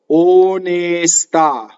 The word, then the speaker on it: onestà: In this case, the accent is on the last syllable, onestà. So we know that the O and the E are closed.